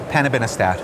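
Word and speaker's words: panobinostat: new agents for multiple myeloma this one you pronounce it so well hanabinostat very good thank you so where where does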